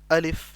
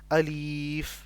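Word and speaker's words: أَلِف: अलिफ इसे हमने सिर्फ अलिफ ऐसे पढ़ना होता है इसे अलीफ लंबा नहीं करना होता कुछ लोग इसे अलीफ पढ़ते हैं तो यह तरीका बिल्कुल गलत होता है हमने इसे सिर्फ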